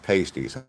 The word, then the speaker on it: pasties: It is pronounced pasties.